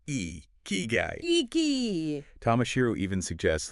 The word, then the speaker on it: ikigai: any further yeah uh let's just get the pronunciation down iy guy it's e key guyy Tomas shiru even suggests